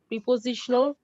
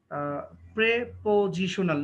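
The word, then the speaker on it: prepositional: লিখা হয়ে গেছে noun phrase verbal এডভার্বিয়াল এডজেক্টিভাল প্রিপজিশনাল conjunctional interjectional conjunctional বানাটা ভুল হয়ে গেছে কনজাংশনাল এন হবে একটা কনজাংশনাল ওকে সবাই শোনো সাবা পড়েছো মনে হয় সাবা এটা হচ্ছে প্রেপজিশনাল নট প্রিপজিশনাল প্রেপজিশনাল ওকে প্রেপজিশন উচ্চারণটা একটু সুন্দর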